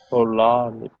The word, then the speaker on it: Polarlicht: Just one stress thing, Polarlicht there. Polar. Polarlicht.